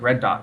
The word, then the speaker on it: Rud Dot: It's actually it's spelled Project RUD dot. So it sounds like the color red, but it's spelled with a U instead of an E.